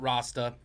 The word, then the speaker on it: Rasta: Or if you wrote Rasta, come on. Rhymes with pasta.